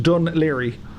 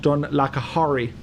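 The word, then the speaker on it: Dún Laoghaire: So this harbour down here, this is Dunleary. And if you're not from Ireland and you see how Dunleary is spelt, it's pronounced Dunleary, not Dunlacahorry.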